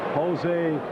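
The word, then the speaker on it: José: in so on - you gotta say his name right josè that's how they say it down here is Sun of course plays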